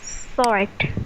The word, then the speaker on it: sword: So this word is pronounced as sword. Sort, Yes, big sword pack.